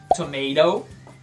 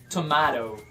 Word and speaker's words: tomato: Já o tomate pode ser pronunciado de duas maneiras em inglês. Tomato ou tomato. Eu geralmente digo tomato, mas também tá certo você dizer tomato.